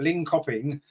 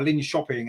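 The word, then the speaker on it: Linköping: when you remember that lean copping or Lynn shopping as I think they're pronounced in Sweden they of course are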